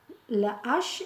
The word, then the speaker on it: hache: le ou bien là par exemple on dit la hache la hache il y en a